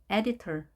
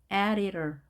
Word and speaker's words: editor: editor, editor. 터 발음 보이죠? editor, editor 이렇게도 발음합니다.